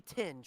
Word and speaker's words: Tinge: then there's that pronunciation it's supposed to be tinge right yeah I don't know where you got the r me and Reedy have